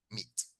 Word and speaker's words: meet: Entonces recordémonos que meet en presente se pronuncia así, como una I, meet.